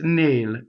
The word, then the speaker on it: nel: So nnel is not nel, it's nnel, A.